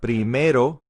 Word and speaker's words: primero: comes to numerous ordinales pay attention to the r it's not primero tercero that's again an english accent pronunciation of the r we want to flap the r primero and segundo it looks